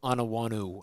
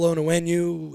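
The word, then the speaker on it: Onwenu: I have Michael Anawanu. I can't say his name right. Onenu. Anenu. Michael Onenu is correct.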